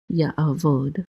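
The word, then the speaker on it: יַעֲבֹד: And then we have a yud with a patak that says ya, and then an ayin says a again, and a vet with a cholam says vo, and then a dalet closes that syllable out, so this is a vod. Ya'avod.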